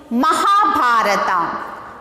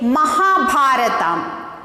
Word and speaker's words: Mahabharata: Mahabharata. How to pronounce this? Mahabharata.